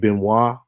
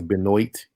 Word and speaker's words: Benoit: There's a guy named Dave Benoit. If y'all spell it, it look like it's Benoit, but it's Benoit.